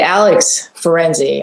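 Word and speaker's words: Alex Ferenczi: village so let's get right into it okay alex ferenzi i'm so i am pronouncing your name correctly i hope yeah perfectly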